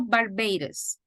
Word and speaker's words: Barbados: Canary Islands remember that the S is silent to Barbados so this is the